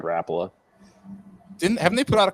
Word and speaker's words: Rapala: How do they say Rapala? Rapala. Yeah. What do you say, Ty? I've always said Rapala.